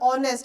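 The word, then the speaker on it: honest: मतलब ऑनेस्ट अगर मैं बोलूं तो ऑनेस्ट एच से शुरू होता है बट उसके लिए हम एन ऑनेस्ट पर्सन लगाते हैं। ठीक है? समझ में आया? कंसोनेंट से बिगेन होता है बट वो वोवेल साउंड करता है। ऑनेस्ट ओ का साउंड आ रहा है तो एन ऑनेस्ट लगाते हैं।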